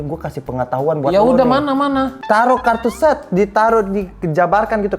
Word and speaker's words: tarot: pernah ditarot gak pernah bacanya itu bukan tarot taruh kalau itu agak aneh dong Lu pernah ditaruh Gak lah emang gua barang tapi aku udah nonton film ini baca tuh emang taruh gitu jadi kayak Emang dia